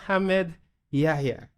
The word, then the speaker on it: Hamad Yehia: Hamad Yehia. Did I say it right? That's perfect.